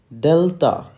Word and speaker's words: Delta: the letter d and its phonetic spelling is d e l l okay you have to emphasize this one t a h how is it spoken Delta Delta Delta okay so that's how